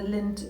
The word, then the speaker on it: Linth: Um and apparently that's where the Lind River um starts. It's not spelled the same as Lind the Chocolate, but it sounds pretty similar to me anyway.